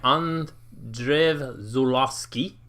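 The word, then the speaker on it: Andrzej Żuławski: movie this movie was written and shot by on Drive Zulu ski that is great pronunciation it it doesn't sound like you're reading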